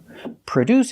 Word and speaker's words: produce: We put the stress on the second syllable. Produce. Produce. The first syllable is pronounced with a relaxed uh sound like cup and up. Uh u pra produce.